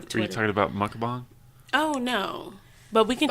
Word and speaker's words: mukbang: She's a McBonger. What? A McBonger. She does McBongs. She has the No, channel. it's called mukbang.